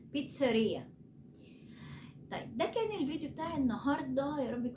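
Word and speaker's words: pizzeria: هي بيتزا اوكي طيب محل البيتزا عشان انا برض بسمع ده غلط بيتنطق غلط كتير محل البيتزا اسمه اسمه اسمه بيتزريا اوكي اللي هو متخصص في البيتزا بيتزريا طيب ده كان الفيديو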